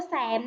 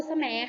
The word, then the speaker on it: แสม: ค่ะ อ่าน ว่า ปู แสม นะ คะ ไม่ ได้ อ่าน ว่า ปู- แสน นะ คะ อ่าน ว่า ปู แสม ค่ะ ต่อ มา ค่ะ ภาพ